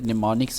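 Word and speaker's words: mnemonics: किस तरह के थे निमोनिक्स एंड पंस की तरह निमोनिक्स के स्पेलिंग ध्यान से याद रखने एम एन ई एम एन आई सी एस ने मोनिक्स इसमें एम साइलेंट है पहला ट रेज लाफ्टर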